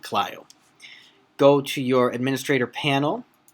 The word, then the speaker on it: Clio: client just for reference some people call it Cleo i pronounce it Clio go to your administrator